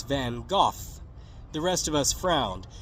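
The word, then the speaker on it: Van Gogh: a girl singing about van Go's sunflowers in Portuguese and laughed when she pronounced his name vanagi that's when Rebecca interrupted to correct me saying his name isn't van go it's van goof the rest of us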